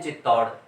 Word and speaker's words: चित्तौड़: इसी प्रकार है ये शुद्ध है चित्तौड़, और बोलते हैं चित्तौड़। तो औ की मात्रा लग रही है, औ की मात्रा, और उच्चारण करते हैं हम ओ वाला।